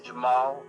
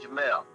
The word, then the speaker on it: Jamaal: who I am uh most of the time when people meet me they say my name wrong is Jamal and it's Jamel so we'll we'll start